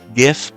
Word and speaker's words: GIF: correct pronunciation is but the correct pronunciation of G is GIF it's not gif and there's there's